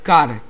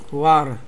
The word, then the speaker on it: Qar: Ja nienawidzę czasami, jak ktoś wymawia mu nick kar, albo coś w tym stylu. Nie no. Mi to się od razu kojarzy z rybą jakąś. A jak to się powinno wymawiać? Kuar.